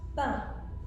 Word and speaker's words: pain: It could be written IN or AIN or EIN. For example, pain, which means bread. There's also vin. Vin is wine. Vin could also be 20, depending on how it's spelled. Now with the EIN, you have words like plein, which means full.